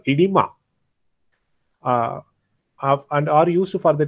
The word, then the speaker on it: oedema: These are used to prevent this called, this written as OEDEMA. It is called, pronounced as edema.